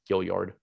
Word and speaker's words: Gilyard: It's Gilyard, by the way. It's what? Gilyard. As opposed to Gilyard. Oh, yeah, it's Gilyard. I just happened to see it in like the pronunciation thing earlier and felt the need to correct you.